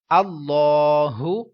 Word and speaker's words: اللہ: لام کا، کہ جب اللہ تعالیٰ کے لام سے پہلے زبر پیش آئے تو پر پڑھیں گے، تو یہاں پر اللہ